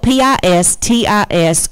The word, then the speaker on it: pistis: It's spelled P-I-S-T-I-S, or it's pronounced pistis.